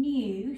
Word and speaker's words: knew: special friend um so one of the letters before that n is a silent letter and it's a kicking so i'm new so we have a kicking we have an n and then we have our ooh sound that can also make